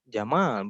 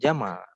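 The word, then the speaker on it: جمال: nama Mas Yama sendiri kan jamaah bukan Jamal beda bedanya sedikit tipis itu hanya ditanya saja tak nih satu eh minimnya saja minimnya yang satu jamaah dipanjangin artinya keindahan lebih kalau dibacanya pendek Jamal itu artinya onta kitabun eh atau kita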